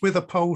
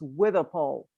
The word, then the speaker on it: Withypoll: do we have any views on whether it's withy paul or witty poe it's spelt both ways it's pronounced with a pole street these days but that doesn't mean that's